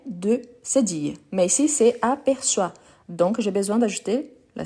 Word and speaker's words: aperçoit: Donc, aperçoit, O plus I, il y a le son des wa. Donc, c'est pour ça qu'on écrit avec O plus I, mais on prononce wa.